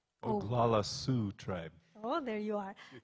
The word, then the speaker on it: Oglala: fred lee shelton a member of the oguala zhuk tribe did i pronounce her correct oglala tribe oh there you are thank you lakota